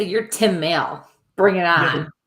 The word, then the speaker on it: Maile: How do you pronounce it? Like Miley Cyrus. Oh, it's Maile.